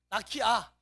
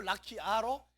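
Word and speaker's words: רָקִיעַ: 이 발음은 안 해도 안 하는 게 좋아요. 그래서 라키아. 으는 무슨 묵음이죠. 소리가 죽은 소리라고. 그래서 라키아 으가 아니고 라키아로 그냥 읽어주는 것도 괜찮아요.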